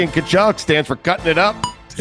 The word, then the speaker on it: Tkachuk: The C in Tkachuk stands for cutting it up. Is there a C in Tkachuk? I don't even know. I have no idea. It's a silent T in there, right?